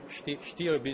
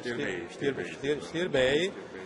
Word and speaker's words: Stirbey: Romania che è la Prince Stirbi, si pronuncia Stirbei.